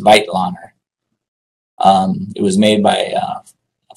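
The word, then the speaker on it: Weitlaner: the the vitelander retractor and it's not a weak lander which most people say it's a self-retaining retractor used for virtually ever every surgical spec specialty in its correct correctly pronounced vital honor it was made by a franz whitelander in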